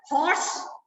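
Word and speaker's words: horse: तो हॉर्स, तब साउंड कौन सी आ रही है?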